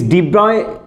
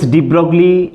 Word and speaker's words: de Broglie: This de Broglie, somebody tells de Broglie, actual pronunciation is de Broglie.